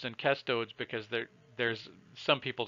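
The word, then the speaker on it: cestodes: the the Latin word Latin does not have a soft C where you pronounce a C as an S you always pronounce a C as a hard C Casto de but because there are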